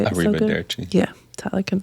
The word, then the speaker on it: arrivederci: Arrivederci. Yeah, Tyler can say it so good. I can't. Try it again. Arrivederci. Arrivederci. Arrivederci. Arrivederci. It's easier to say it when you roll your R's.